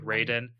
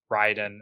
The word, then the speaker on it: Raiden: Kombat it looks like Raiden but a little bit closer to the Japanese lore it could be pronounced Ryden as well Ryden so both are accepted depends on who you're talking to but uh a suuma